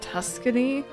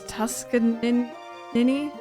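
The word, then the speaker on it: Tuskaninny: is it both uh I always read this as Tuscany apparently it's tuskan nin and that's kind of of mindblowing to me cuz I have never read it that way before they both eat anything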